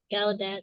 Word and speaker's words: Gallaudet: That's really cool because Gallaudet, that's how you say it.